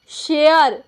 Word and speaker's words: SHARE: SHARE, शेयर। क्या होगा? शेयर। यहाँ पे देखिए WARE, वेयर। ये ए का ए उच्चारण कब होता है?